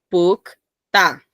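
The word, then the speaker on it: 붉다: Ahora aquí ven la palabra en sí, rojo, pukta. Pronuncien, pukta.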